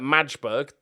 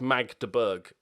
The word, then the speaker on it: Magdeburg: he's on loan at madsburg definitely how you pronounce that team sorry it's magdeburg yeah that's it then let's